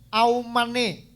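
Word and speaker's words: אָמֵן: Amin, Bapak Ibu, dalam bahasa Ibrani kuno diucapkan aumane.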